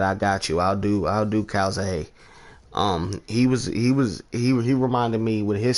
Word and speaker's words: Calzaghe: How do you pronounce his last name? Calzaghe? Joe Calzaghe.